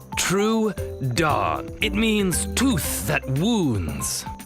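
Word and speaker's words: Troodon: I'm True Dawn. True Dawn.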